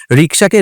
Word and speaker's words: রিক্সা: এখন কেউ যদি রিক্সাকে রিস্কা বলে, দ্যাটস প্রবলেম।